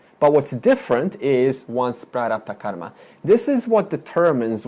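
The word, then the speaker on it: prārabdha: The third principle is prarabdha. That's a long A. Prarabdha. This is an important word. How do you spell it? P-R, long A, R-A-B-D-H-A. Prarabdha.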